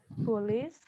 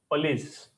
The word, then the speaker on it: police: not police it is police police so you know you must have heard especially Elders they say Poli it is not police it's police police so what is the